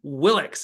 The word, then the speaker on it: Willox: the man the myth and the legend Andrew willix if I said that right Andrew how are